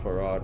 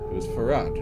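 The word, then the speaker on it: Pharod: And, okay, who's Farad, or Parad, or however you're going to pronounce it? I'm gonna go with Farad. Yeah, he is a collector, because it sounds a lot like Pharaoh when you say it that way, you know?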